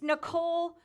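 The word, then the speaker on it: Nicholle: thank you for saying my name right it's Nicole Nicole is spelled n-i-c-h-o-l-l-e my parents thought out the way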